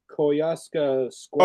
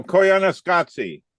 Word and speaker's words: Koyaanisqatsi: So I cannot pronounce this. It's that sort of head movie, Koyaska Squad. Oh, Koyaanisqatsi.